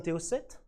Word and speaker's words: TO8: Then after that, I've discovered the Thomson TO set. And this is a Thomson TO8. Yes, I pronounced it in French because this machine was not sold out of this country.